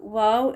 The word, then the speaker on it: و: The correct pronunciation of the Arabic letter वाव is similar to the English word वाव, जो हम excitement में बोल देते हैं ना, वाव, इस तरह से।